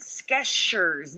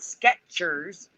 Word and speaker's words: Skechers: You pronounce that Skechers, not Sketchers.